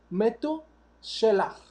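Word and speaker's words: מתושלח: Matusalem en hebreo se dice Metu Shelach.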